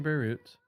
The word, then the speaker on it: Beirut: South of modern Beirut was one of the premier training cities of the Middle Eastern Mediterranean world.